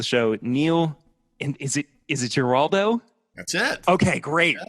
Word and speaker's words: Giraldo: And is it Giraldo?